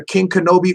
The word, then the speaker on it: Kyng Kenobe: what's the other one uh and he's under king kenobi or kenobi king one of the other but